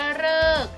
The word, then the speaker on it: ฤกษ์: กศ การันต์ อ่าน ว่า ฤกษ์ ฉะนั้น คำ นี้ อ่าน ว่า ดาว ฤกษ์ ตัว รฤ ใน ที่ นี้ ออก เสียง ว่า ฤกษ์ ออก เสียง ว่า ฤกษ์